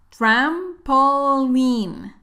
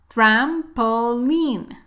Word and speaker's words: trampoline: jump jump trampoline trampoline no bias a decir line trampoline no escucha pronunciation correcta trampoline trampoline they like to jump on